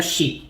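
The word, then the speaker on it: 四: para o japonês o número quatro no Japão se pronuncia xi que é a mesma palavra que significa morte e por isso o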